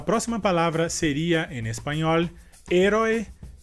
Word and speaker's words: héroe: E por essa razão, a sílaba mais forte nessa palavra em espanhol seria a primeira sílaba é, e em português seria a última sílaba roi.